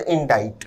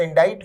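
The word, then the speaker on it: indict: शब्द इंडाइट, विद्यार्थी ध्यान दें, शब्द इंडाइट में सी साइलेंट होता है, उच्चारण है इंडाइट, थर्ड फॉर्म में इंडाइटेड।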